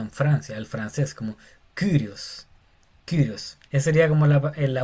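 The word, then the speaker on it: κύριος: Y se pronuncia Kyrios y no Curios porque parece una U. Hay gente que le dice Curios, otro le dice Kyrios, pero la pronunciación más cercana al original sería como Kyrios. Kyrios.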